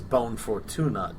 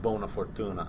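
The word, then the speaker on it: buona fortuna: truce with jip and he says bone fortunate to him instead of bona fortuna yeah he pronounces it incorrectly being that of all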